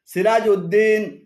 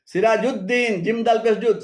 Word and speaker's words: সিরাজুদ্দিন: একটি আলাদা শব্দ হিসেবে উদ্দিন লেখেন যেমন নুরদ্দিন সিরাজউদ্দিন শামসউদ্দিন আলিমউদ্দিন এভাবে উদ্দিন বলে আরবিতে আলাদা কোন শব্দ নেই এগুলো শুদ্ধ উচ্চারণ হল নুরুদ্দিন নুরুদ্দিন সিরাজুদ্দিন সিরাজুদ্দিন শামসুদ্দিন আলিমুদ্দিন তবে দিয়াউদ্দিন উচ্চারণ সঠিক কেননা